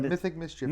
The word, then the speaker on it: Mythic Mischief: look at mythic mischief we've pronounced that wrong several times now it is a mythic mischief it's a little bit of a diff tongue tier it is uh this